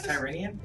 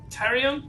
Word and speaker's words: Tyrion: what's his face Tyrone how do you pronounce tyranian isn't it Tyrion Divine smile tyon Tyrion Lannister look at that I don't